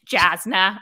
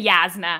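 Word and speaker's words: Jasnah: Yeah, it's Jasna. I will never say Yasna. And I am on record that Yasna is incorrect. It is Jasna. And that is the only right way to say it.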